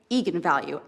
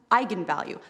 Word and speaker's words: eigenvalue: the director said yes that is how you pronounce it so i went out there and said that's right eagan value and then apparently the internet went nuts when it came out because apparently it's pronounced eigenvalue that's how you're supposed to say it and